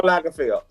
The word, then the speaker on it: Karl Lagerfeld: This theme, I forget how to pronounce his last name. Karl Lagerfeld.